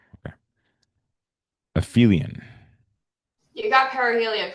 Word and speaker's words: perihelion: You got perihelion correct. I did get perihelion correct. Thank you. So, it's pronounced uh perihelion and aelion.